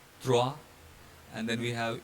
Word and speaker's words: trois: EAU is pronounced as O, so nouveau. Then we have this OI sound, trois, and then we have E with accent mark